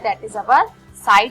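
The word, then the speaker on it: psi: होता है, ठीक है, ये साई होता है, इसको हम लोग साई बोलते हैं, P साइलेंट होता है, ठीक है।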